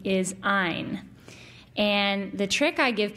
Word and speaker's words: Ayn: her first name is Ayn. And the trick I give people to remember that by is that, in keeping with her philosophy, the correct pronunciation of her name rhymes with the word mine.